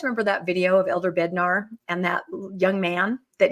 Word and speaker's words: Bednar: Elder Bednar. Yes. Did I say it wrong? What did I call him? I think you call him Elder Butnar.